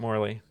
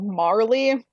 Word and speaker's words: Marley: we're locking with Jacob Morley um I need to make a judgment call here because it's actually Jacob Marley like Bob Marley oh that's just how